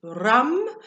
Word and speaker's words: ram: for the day your um solar plexus is rum and obviously it's spelled r-a-m but your c time to connect